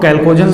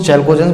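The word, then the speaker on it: chalcogens: इसको आप कैल्कोजेंस बोलो, चैल्कोजेंस बोलो, स्पेलिंग आपको सही लिखना है।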